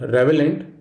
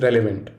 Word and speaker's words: relevant: It is not relevant, rather, it is relevant.